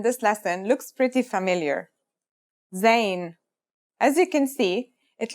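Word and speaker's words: ز: a DOT on top in terms of pronunciation you say just like the English Z as in zebra or Al jaaz practice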